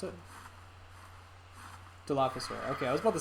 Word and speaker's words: Dilophosaur: Dilophosaur, is that how you pronounced it? Dilophosaur.